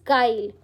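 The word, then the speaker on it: guile: This word it's pronounce काइल। ठीक है? कैसे? जी वाई एल ई को ऐसे ब्रेक कर लो। स्पेलिंग यह है बट इसका प्रोनाउंसिएशन ऐसे जाएगा।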